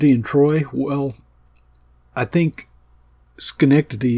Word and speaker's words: Schenectady: Troy well I think skty is just a great name to be used in a Psalm it has four syllables and it has a